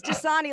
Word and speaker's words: Dosani: My last name is Dosani, like the water.